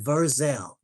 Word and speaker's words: Verzell: I'm going to I'm going to spell it phonetically for you. My name is Verzel. And you want to follow me on anything, it's just Verzel and that's.